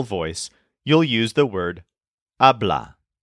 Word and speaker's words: habla: you'll use the word ablah this is spelled and pronounced exactly the same way as the third person present tense form which normally means he